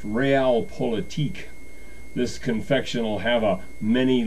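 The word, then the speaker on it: Realpolitik: week going so far the cookie today is pronounced real politique this confectional have a many layered Middle Eastern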